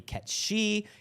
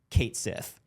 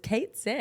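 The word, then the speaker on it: Cait Sith: that was saying, well, it's spelled in a way that looks Celtic, so it might be Ketshi, it might be pronounced like 2 or 3 different ways.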